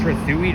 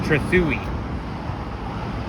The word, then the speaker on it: Trethewey: I used to think that this street was pronounced Trethewey Drive, but I mean, I used to think it was pronounced Trethewey Drive, but it's actually pronounced Trethewey.